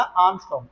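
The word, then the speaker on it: ångström: इसे बोलते हैं आर्मस्ट। क्या बोलते हैं इसे? आर्मस्ट करके। स्पेलिंग थोड़ी अलग होती है। ए एन जी एस टी आर ओ एम होता है। तो प्रोनंसिएशन थोड़ी ध्यान रखना। आर्मस्ट इसकी वैल्यू क्या होती है?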